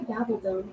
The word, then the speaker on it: Gabaldon: Diana Gabaldon wrote the book Outlander.